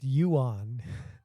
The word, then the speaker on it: yuan: That's yuan, dude. Like Juan, but yuan.